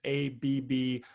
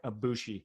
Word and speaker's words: Abboushi: It'll be in the show notes, but it's Abboushi. Abboushi.